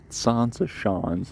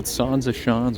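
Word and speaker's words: Zaanse Schans: Anyways, I have now arrived at Sansa Shans, and you can take that pronunciation with a grain of salt.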